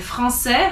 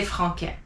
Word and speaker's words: français: So again, français has a CCD because you don't want to say franquais.